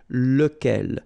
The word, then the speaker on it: lequel: So remember, you've got to pronounce it lequel. Even if you've got this QU, okay? Remember that this U phonetically doesn't exist, so lequel.